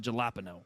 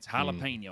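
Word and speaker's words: jalapeño: At least I learned not to pronounce it jalapeno. I got that Oh, right. oh, Jesus Christ. Yeah, it's jalapeno.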